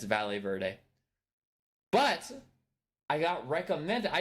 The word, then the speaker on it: Valle Verde: of all nightm definitely did not pronounce uh ballet Verde correctly it's Spanish I grew up in Arizona it's valet Verde but I got recommended